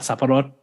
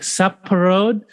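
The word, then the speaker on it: สับปะรด: I'd be like saparot, and he'd be like saparod, and I was like, no, saparot, and he'd be like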